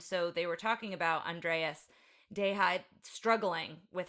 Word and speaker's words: Andreas Deja: my favorite animator, and it's Andreas Deja. It's not the Hispanic Deja, but he did Gaston.